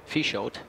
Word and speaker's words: Peixoto: Peixoto. It looks good though. Just a Silent P. Just a P, get rid of the F.